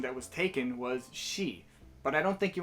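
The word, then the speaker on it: し: at the highlighted ones she now you see this isn't pronounced c why because this isn't spanish class thank god i already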